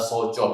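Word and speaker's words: 早朝: Nah, kalau di sini kalian bingung ada kanji, Hayai sama asa itu bacanya adalah soco.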